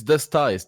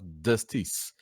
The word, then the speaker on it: Dustice: So it's Dustice, not Dusties. I wanted you know Justice, I don't know, but anyway, it could be Justice. Yeah. Like Justice, just with the D.